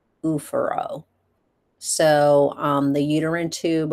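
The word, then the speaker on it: oophoro: ovary has ovaro or ufor pronounced ufuro.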